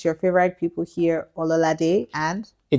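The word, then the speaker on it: Ololade: But that's not your name is pronounced. It's pronounced ol. Leave that one. Leave that one. But at least the o l o l a d e. Ola day.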